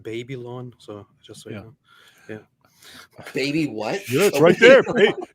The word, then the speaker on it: Babylon: have to correct you he actually pronounced baby lawn so just so baby